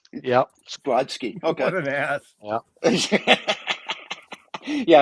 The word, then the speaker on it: Brodsky: Brodsky. Yep. Brodsky.